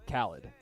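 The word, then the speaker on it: Khalid: It's not DJ Khaled. It's Khaled. Okay, there's a difference. There's a difference, yeah. One's spelled with an E and has a DJ in front of his name.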